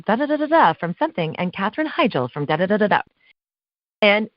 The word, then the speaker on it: Heigl: all of a sudden she goes well it's Heigl actually that's okay a lot of people get the name wrong and I'm not mom and I look